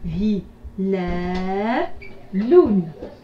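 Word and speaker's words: هلالٌ: Et enfin ici la lettre lam avec tanwin ma'adma, ça fait lun. Hi la lun. Hilalun.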